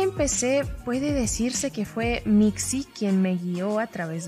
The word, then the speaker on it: Mixi: Decidí nombrarlo Mixi. Mixi es la palabra en lengua otomí que significa gato, que bueno, en realidad la pronunciación correcta es Mishi.